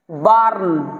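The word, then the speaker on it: burn: সেই আর টাকে রেফ টাইপের টার্ন করতে হবে বার্ন বি ইউ আর এন বার্ন ঠিক আছে এইভাবে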